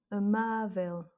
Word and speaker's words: amável: Amável. Accent sur le A du milieu, c'est lui qui prend l'accent tonique.